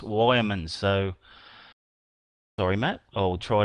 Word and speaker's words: Yeoman: I've got news through that I was pronouncing Matt Yeoman as Matt Yeomans, but it's actually pronounced Wyomans.